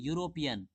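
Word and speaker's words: European: the airport यहां देखिए यूरोपियन इसका उच्चारण हम लोग कैसे पढ़ रहे हैं यू य य से ठीक है क्या पढ़ते हैं हम लोग यूरोपियन यूरोपियन पढ़ते हैं तो यहां फर्स्ट क्या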